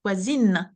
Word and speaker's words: voisine: Ouais, alors voisin, that's a French word. It does exist. That's neighbor, but that's the masculine. Voisin. Un. And then because the E is added, the N is pronounced. Voisine.